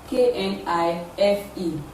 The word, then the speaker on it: knife: example where we have k n i f e k is actually physically present in the word but it is not pronounced it is pronounced as